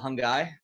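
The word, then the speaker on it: Hanggai: Oh, so this is actually a really cool band called Hungai. They're like Mongolian folk punk metal, mainly folk, I guess. Rhymes with Mogwai.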